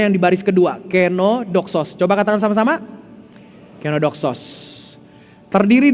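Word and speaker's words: κενόδοξος: Cara bacanya yang di baris kedua, kenodoxos.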